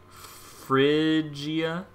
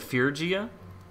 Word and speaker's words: Phrygia: so that's really cool is it pronounced Phrygia instead of fear Jia oh yeah you're right I was mixing it's not fear gee that's pretty yet Phrygia yeah you're right I